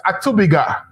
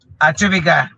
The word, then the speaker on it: Atubiga: I'm getting the name wrong, right? It's Atubiga. Yes. Atubiga.